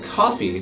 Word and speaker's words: Coffey: Michael Clarke Duncan's character, John Coffey, just like the beverage, only not spelled the same.